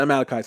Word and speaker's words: Amalekites: um the malachites and i kept saying like mela and mila and i was just trying to pronounce it it was funny it wasn't that funny it was kind of sad but the amalekites and so down the